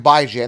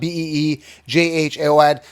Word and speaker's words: Bijan: It's not Beejaon. Anyways, it's Bijan, like bi-weekly, and Jan is in January, as in ran.